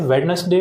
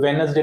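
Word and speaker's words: Wednesday: कर देते हैं इसे वेडनेसडे ना पढ़ते हुए वेनसडे पढ़ते हैं क्या पढ़ते हैं वेनसडे वेडनेसडे नहीं होता वेनसडे ठीक तो यहां पर जो डी है वो साइलेंट है ठीक नेक्स्ट है नाइफ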